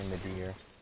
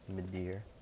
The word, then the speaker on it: Midir: And we ended up fighting Dark Eater Midir, or Midir, however you want to pronounce his name. I say Midir, my dear, Midir.